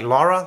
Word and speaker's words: Laura: like Lara Lara yeah people will say that the vowel wrong it'll be like Laura Lara Lara so it's lava yeah Laura hoga haa Lola I like that one the AU is an O sound it sounds like it's loud like you la la now